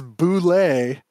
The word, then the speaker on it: Bulette: It is Bulette, and at North Texas, I've yelled to people